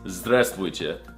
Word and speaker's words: здравствуйте: It's здравствуйте.